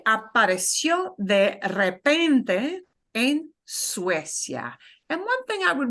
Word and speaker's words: Suecia: Suecia, that UE combination that we call a diphthong, you know, and make sure that you are really pronouncing each vowel nicely and clearly. So actually 2 diphthongs, the ue of Suecia and the ya, but not Suecia, no, Suecia.